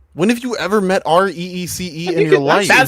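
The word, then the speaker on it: Rhys: I kind of hate when uh cuz the character this character's name is Rise, but it's spelled RH YS. I kind of hate that that's that's pronounced Ree.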